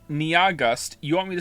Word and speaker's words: Nyahgust: has informed me that their name is only 2 syllables long. And I don't understand how that's possible. Nia is clearly 2 syllables on its own. And then after that, you have Gust. Niagust. It's pronounced like August.